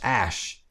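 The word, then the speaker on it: Æ: And then the A E is pronounced like is pronounced ash.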